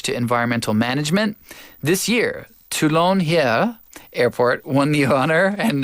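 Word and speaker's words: Toulon-Hyères: won the honor and that's my best French pronunciation I just drop a lot of letters that's that's my key to reading French it's like tulon heres but I'm sure they don't pronounce that s right they never do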